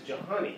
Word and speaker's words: Jahani: are even semi foreign my name is spelled j a ha and I it's it's said the exact same way that it's spelled but it kind of